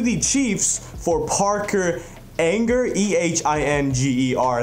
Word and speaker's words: Ehinger: But we traded him to the Chiefs for Parker Ehinger, Ehinger. That's how you say his name.